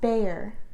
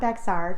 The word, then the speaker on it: Bexar: So i'm going to help you out a little bit- The county that San Antonio is located in is pronounced Behr not Bexar despite how it looks.